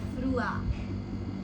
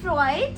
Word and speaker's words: froid: Now winter, cold, which means froid. It's not froid, it's froid.